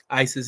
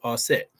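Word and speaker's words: Aset: Goddess Isis AKA AET Isis is the Greek pronunciation for those of you who don't know the true pronunciation is asset now when you when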